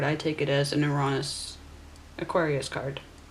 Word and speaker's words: Uranus: Uranus, as I pronounce it in the Greek, represents where your skills, your interests, your uniqueness, yes, and also your areas of non-conformity.